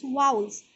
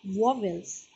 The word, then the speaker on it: vowels: the next topic that is once it's correct pronunciation is vowels not wobbles there are total five balls that are e